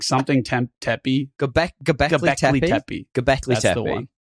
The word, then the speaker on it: Göbekli Tepe: Göbekli Tepe. Göbekli That's Tepe. the one. Yeah, that's the one. Idiots try to say words. Yeah. I think you'll find it's pronounced Göbekli Tepe.